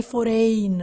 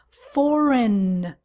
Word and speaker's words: foreign: from another country foreign many times the students say for rain or for egging something like that no foreign by the way you